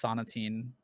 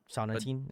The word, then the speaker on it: Sonatine: sonatine is that uh I think it's pronounced sonatine sonatine okay I could be wrong it kind of sounds like a gum yeah it does